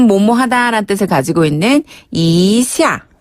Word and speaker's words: 一下: 발음 조금 비슷한 편이죠. 그다음에 예. 좀 뭐뭐하다라는 뜻을 가지고 있는 이샤. 이샤.